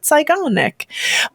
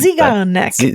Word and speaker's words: Zeigarnik: And apparently I didn't because I just approached it from a German mindset, and pronounced it Zeigarnik. But apparently it's not.